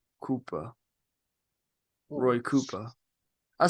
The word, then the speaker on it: Roy Cooper: that we were all pronouncing his last name wrong it's Koopa kooper Roy kooper I said